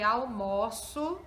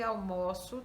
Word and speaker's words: almoço: Esse O eu coloquei o acento agudo, não porque almoço tenha acento agudo, mas só para sinalizar que a pronúncia desse O é aberto.